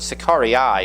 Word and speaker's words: Sicarii: Sicarii is how you pronounce it in Latin. Sicarius is the singular. Sicarii is the plural.